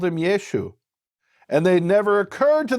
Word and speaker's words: Yeshu: They didn't pronounce the ayin, so Yeshua became Yeshu.